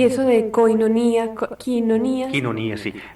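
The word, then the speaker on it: κοινωνία: Y eso de koinonía, quinonía. Quinonía, sí. Los diptongos EI o I en griego moderno se pronuncian I. Quinonía.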